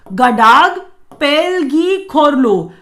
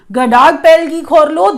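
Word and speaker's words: Ngadag Pel gi Khorlo: It is Gadag Pelgi Khorlo. Gadag Pelgi Khorlo, that's how Bhutanese pronounce this award.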